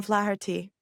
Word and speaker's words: Flaherty: I am your host and I am delighted to have with me the host of Rejection Rehab, Tom Flaherty. You pronounce my last name perfectly.